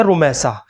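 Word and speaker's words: رمیصہ: دیکھیے اس کا جو صحیح تلفظ ہے رمیسہ کا، وہ سواد کے ساتھ ہے رمیسہ، یہ اس کا صحیح تلفظ ہے.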